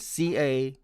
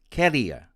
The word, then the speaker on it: career: friends pronounce it as career career with the stress on the second syllable note in the past